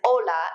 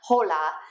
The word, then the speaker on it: hola: when they come at the beginning of a word like hola is ola and not hola just like ora is not hora repite because we are